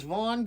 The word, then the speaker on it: Vaughn: name my name is Von the first name vau starts with a V ends with an N too many vowels way too many consonants and the H is silent like in John last name g